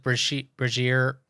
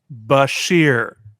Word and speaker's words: Bashir: stuff they did with Brazier being sort of the like Brazier. How do you say his name now? Dr. Brazier. Dr. Brazier. I feel like he. Brazier? Let me be very clear. Bashir.